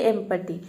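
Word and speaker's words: empty: यहां पे देख लीजिए एम पटी एम पटी का मतलब होता है खाली इसमें शुरू में ई आ रहा है और यहां यहां पे ई को हम ए प्रोनाउंस करते हैं एज एज मतलब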